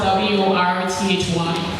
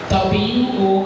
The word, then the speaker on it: worthy: No, it's not Worthy. What did I say with a TH? Worthy. It's worthy. Worthy. Worthy. Worthy. So if you pronounce it without the Y, it's worth. Remember, TH is always the tongue between your teeth.